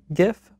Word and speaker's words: GIF: It is graphics interchange format, so I do feel like it should be pronounced GIF, but it's actually GIF, according to the creator.